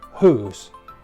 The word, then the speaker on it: whose: we're going to see the pronunciation of whose which sounds exactly the same as whos but mean completely different